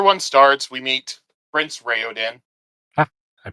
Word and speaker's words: Raoden: chapter one chapter one starts we meet Prince rayen I pronounced it correctly Prince rayan he's the yeah pretty much the heir to